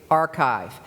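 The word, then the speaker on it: arXiv: they're for free called archive it's spelled ARX IV archive and if you search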